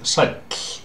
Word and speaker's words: sæll: When you're meeting someone, you can simply say sæll. Sæll. Notice the how the two L's sound at the end of the word, like this. It's quite unique in Icelandic.